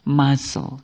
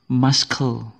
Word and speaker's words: muscle: dibaca male muscle gu ya bukan muskle yang biasanya membaca kata ini muskle ya saatnya bertobat hari ini ini bukan maskle ya tapi sekali lagi muscle muscle jauh seperti tidak nyambung tapi mau bagaimana lagi ini cara membacanya jadi bahasa Inggris kan ada cara tulisannya sama cara membacanya ee kadang tidak sama sebagaimana ini muscle bukan Mask kemudian ada yang membaca kata